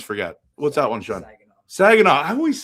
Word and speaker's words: Saginaw: So, Niagara or Sinagua? How do you say that? I don't know. I always forget. What's that one, Sean? Saginaw.